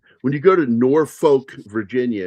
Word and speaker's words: Norfolk: When you go to Norfolk, Virginia, it's not pronounced Norfolk there; it's pronounced Norfolk. And it's not even a Southern accent that's doing that.